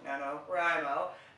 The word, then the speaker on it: NaNoWriMo: more sense National novel writer is monk so Nano rimo anyway sorry about that um today I'm going